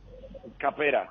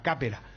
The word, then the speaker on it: Capera: pero el acento en otro lado. Sí. Ah, muy Correcto, bien. sí. Es que me han puesto acá el acento primero en la E. Entonces por eso pensé que era Capera.